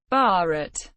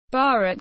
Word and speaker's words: Bharat: The term Bharat, pronounced listen, mentioned in both Indian epic poetry and the Constitution of India, is used in its variations by many Indian languages.